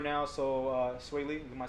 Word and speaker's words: Swae Lee: So right now in the news right now, Sway Lee, am I saying it right?